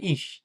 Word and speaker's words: ich: তো এটা হচ্ছে ইস।